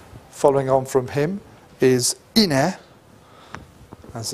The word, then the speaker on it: Ine: The next big king following on from him is Ine, as it's pronounced, and he had further military success, expanding the kingdom, establishing his power.